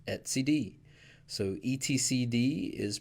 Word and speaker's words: etcd: key value data store for kubernetes and it's pronounced at CD so etcd is pronounced at CD pretty easy now this is an interesting one